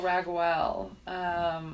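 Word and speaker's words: Raguel: I always remember because his name is spelled differently than it then it would then you might think it's re gue L for rag well but he makes everything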